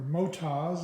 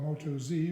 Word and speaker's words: Motoz: I've got the Motos, or Motas is how it's pronounced. A lot of people call it Moto Z, which is fine too.